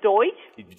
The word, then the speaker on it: Deutsch: Do we pronounce that as Deutsch?